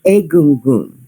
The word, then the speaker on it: Egun: It's Egun. Help you with that at the moment. I think is it. It looks like gun, but it's pronounced goon.